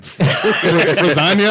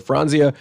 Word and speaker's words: Franzia: And I don't think I ever pronounced that correctly when I saw it. What did you used to say? I don't. Frazania? I don't know. I was all over the place. I'm sure. Frizzante, I've heard as well.